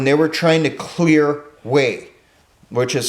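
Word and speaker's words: Hue: marine corps when they were trying to clear way which is spelled h-u-e this was the old imperial capital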